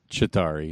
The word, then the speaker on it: Chitauri: So when Loki talks to is it Chitauri leader? Is that how you say it? Chitauri, yeah.